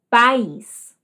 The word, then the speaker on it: país: Segunda, país. Vejam, paz. Uma sílaba. País. País. Duas sílabas, certo?